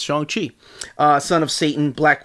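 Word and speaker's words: Shang-Chi: rider zhang chi yeah thanks to that movie i've been pronouncing shang chi for 30 plus years of my life but apparently it's chongqi uh son of satan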